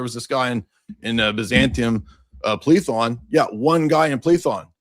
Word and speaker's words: Plethon: And I think you meant Plethon. You mispronounced it, but Plethon was an atheist Platonist in Byzantium.